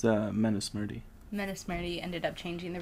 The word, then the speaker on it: Manusmriti: The Mansutri changed the rules. Yeah, however you pronounce that. Manusmriti. You don't have to. No. Yeah, good enough. It's Manusmriti.